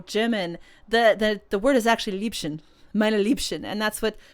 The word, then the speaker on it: Liebchen: the word is actually Liebchen, meine Liebchen, and that's what Karnak says, meine Liebchen, meine Liebchen. But since Baiko could not pronounce Liebchen and kept calling Lieben, it's the same thing